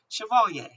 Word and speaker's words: Chevalier: slow that word up French the pronunciation that I looked up was Chevalier so anyway Chevalier was